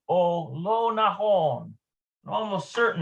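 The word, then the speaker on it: או: It's just pronounced O, means or.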